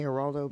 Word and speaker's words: Geraldo: do more than half I say Geraldo because I'm pretty sure that is the canonical canonically right way to say it these are spikes Road